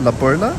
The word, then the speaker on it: La Perla: Oh, so it's spelled La Perla, but I think they pronounce it La Perla.